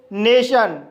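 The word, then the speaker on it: nation: उच्चारण ट होता है जब किसी वर्ड के अंत में टी के बाद आई ओ एन आए तब टी का उच्चारण श होता है जैसे नेशन नेशन वर्ड के अंत में टी के बाद आई ओ एन आया है इसलिए टी का उच्चारण श होगा इसलिए इसे नेशन पढ़ा जाता है इसी तरह से कशन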